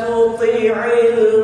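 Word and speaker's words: تطع: Fala tuti'il mukadzibin. Sama huruf ta dan qa juga harus dibedakan. Tuti'il. Jangan dua-duanya disamain.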